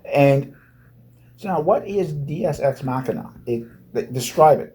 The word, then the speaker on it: deus ex machina: It's Deus Ex Machina. Yeah, not Deus Ex Machina.